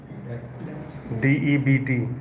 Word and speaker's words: debt: the uh what says debt debt d e bt b is silent there debt what about others A lot of people are still not speaking.